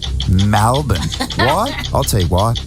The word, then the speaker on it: Melbourne: Why do they say Melbourne? It's Melbourne, not Melbourne.